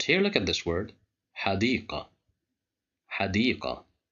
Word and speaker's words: حديقة: Here we have the letter dal controlled by kasra, and there is the letter ya right after the dal, so there is مد بالياء. That's why we pronounce it with a long vowel.